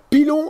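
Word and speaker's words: Pillon: P-I-2-L-O-N, on prononce Pilon.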